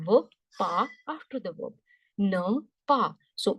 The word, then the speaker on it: ne pas: Ne, pa. So last letter E silent, ne. This is pa. Last letter S silent, ne pas.